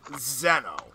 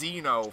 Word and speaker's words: Xeno: But, I don't know, maybe I at least explain it, because, for instance, the word Zeno. It's really pronounced Xeno, from what I understand, and here's the weird thing.